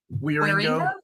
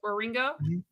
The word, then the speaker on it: Wieringo: How do you pronounce the Wieringo? Wieringo. Wieringo.